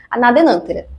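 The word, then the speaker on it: Anadenanthera: Ela pertence à família Fabas e o nome científico dessa espécie que eu tô falando é anadenantera colubrina. Algumas pessoas pronunciam anadenântera, mas não tem muita regra para isso não.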